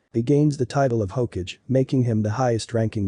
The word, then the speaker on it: Hokage: about becoming Hokage and it's not Hage at Hokage Hokage you will say it